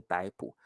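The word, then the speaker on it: 逮捕: 好，老师都习惯念逮捕。正确的 pronunciation 应该是逮捕逮 the fourth tone 逮捕。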